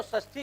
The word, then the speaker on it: षष्ठी: है, मूर्धन्य सकार है, इसका उच्चारण स्थान मूर्धा है। और इसी प्रकार कृष्ण कहिए, विष्णु कहिए, तमाम जगह मामले फंस। अगर स कहते हैं तो षष्ठी कहिए, ये न कहिए षष्ठी या खष्ठी।